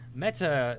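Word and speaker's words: μετά: Meta is actually a Greek word. It means the after or the next. It literally in Greek is pronounced meta, except it's written something like this.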